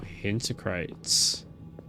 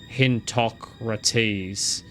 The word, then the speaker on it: Hintocrates: Hint crates. Hint crates. What kind of name is that? Something is being printed. Actually, it's pronounced Hintocrates. Oh, I got I so got that wrong.